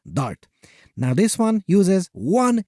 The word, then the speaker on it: D4RT: If you want to sound really cool, pronounce it as DART.